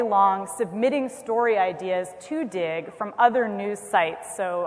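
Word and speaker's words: Digg: So Dig, which is spelled D-I-G-G, just so that it's extra cool, I think it's mostly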